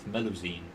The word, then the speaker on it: Melusine: know good to know that that's how you pronounce that melusine so it's say the girl couldn't have enough